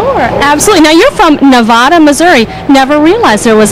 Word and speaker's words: Nevada: absolutely now you're from Nevada Missouri never realized there was a Nevada Missouri it's it's pronounced just like the state of Nevada but uh pronounced Nevada Missouri long a so Southwest Missouri small